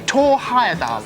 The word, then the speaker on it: Thor Heyerdahl: the kontiki pronounced yeah Thor Heyerdahl and this is from L Thomas in Welling Kent absolutely correct congratulations it was actually tore higher than oh you know you